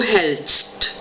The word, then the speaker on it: hältst: La pronunciación entonces es du hältst, du hältst.